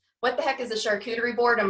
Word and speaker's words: charcuterie: who can't pronounce it so this is the funny way to board a church yes because you look at the name and i'm like how do you pronounce that so i'm like so like okay yeah so kind of like cooties in the middle of it charcuterie boards so this